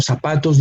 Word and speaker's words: zapatos: and sapatos no zapatos the pronunciation of sapatos differentiation of this Z initial Z and an ending s is the same no we don't have to we don't have to leave make a different sound because they have the